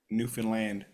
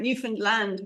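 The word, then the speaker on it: Newfoundland: Foundland nearly not quite how do you say it Newan land Newan land the emphasis on the land right Newan land right so he's in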